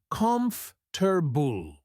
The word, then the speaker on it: comfortable: For example, if you see the word comfortable, you might think it's said just like it looks. But when you say it out loud, you realize it's pronounced comfortable.